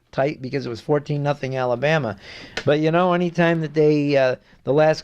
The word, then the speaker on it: Alabama: You don't say Alabama. You have to say it like Keith Jackson. Alabama.